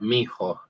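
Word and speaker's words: mijo: And also, you might hear it as one word because it's moving fast. It could be as if it was spelled m i j o. Let's try that. Miho.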